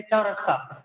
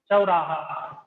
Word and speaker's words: चौराहा: General language में क्या कहते हैं? चौरस्ता. कैचुअल सही प्रोनाउंसिएशन चौराहा.